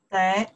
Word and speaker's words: 得: 得, the third one.